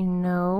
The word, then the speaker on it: know: This is a multi-letter phonogram where the K is silent and the N says its sound. N. You might see that in a word like no. Like, I know where the candy is.